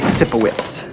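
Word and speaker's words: Sipowicz: Andy Cippowitz.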